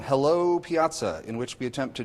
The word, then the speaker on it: piazza: Piazza, it's an Italian word, accent on the middle syllable.